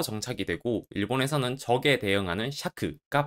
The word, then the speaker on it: 借: 받침에 기억이 없는데도 음독이 샤크예요. 이건 이 한자의 발음이 적과 차 두 개였는데 한국에서는 차로 정착이 되고 일본에서는 적에 대응하는 샤크가 발음으로 정착이 되어서 그렇습니다.